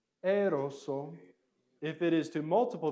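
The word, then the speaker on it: ἔρρωσο: it if it is to one person it's eroso eroso if it is to multiple people it is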